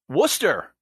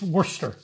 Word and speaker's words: Worcester: Backlund in Worcester Massachusetts Worcester that is how it's pronounced and that that took me a back when I first moved up here now I like the sauce right this Worcester Worcester like w-o-o-s-t-e-r Worcester okay yeah